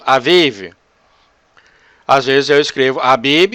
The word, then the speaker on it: Aviv: Em hebreu seria pronunciado Aviv.